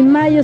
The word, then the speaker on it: Mallo: Le saludan Amparo e Imelda, las jilguerillas, para decirles: aquí donde canta el gallo está Laboratorios Mayo, y Mayo se escribe como gallo, LLO, Laboratorios Mayo.